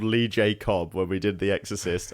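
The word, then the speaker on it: Lee J. Cobb: cuz I told job I told you this guy's called Lee J cob when we did The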